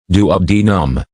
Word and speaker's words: duodenum: Peptic ulcers affect the stomach and the upper part of the small intestine, called the duodenum, pronounced duodenum.